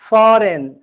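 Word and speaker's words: foreign: डिजाइन, फॉरेन, rain. यह beginning में आए, बिगनिंग और एंड में आए, दोनों स्थिति में जी के बाद एन रहने पर जी का उच्चारण साइलेंट होता है।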